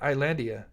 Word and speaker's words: Islandia: that sounds better oh so the S is silent Islandia oh that's easier that's